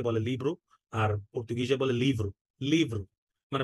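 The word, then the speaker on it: livro: লিব্রু আর পর্তুগিজে বলে লিভ্রু লিভ্রু মানে ভকে ভ এর মত উচ্চারণ করছে ঠিক আছে আবার আপনি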